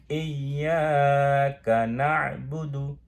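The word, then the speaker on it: إِيَّاكَ نَعْبُدُ: তাহলে আমি এবার উচ্চারণ করি, ইয়্যাকা না'বুদু, ইয়্যাকা না'বুদু, খালি একটা টান আছে, ইয়্যাকা না'বুদু, ইয়্যাকা না'বুদু।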